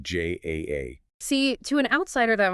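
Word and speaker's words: JAA: But then the Joint Aviation Authorities requires the distinct spelling J A A.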